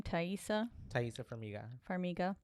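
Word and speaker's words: Taissa Farmiga: Thaisa Farmiga.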